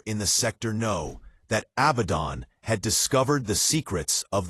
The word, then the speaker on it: Abaddon: And yes, I relinquish my pronunciation of Abaddon to Abaddon, despite having spoken this incorrectly for the past 20 years.